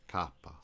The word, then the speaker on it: kappa: K, the name is pronounced Kappa.